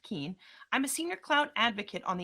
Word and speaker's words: Keene: And yes, it's pronounced Keene.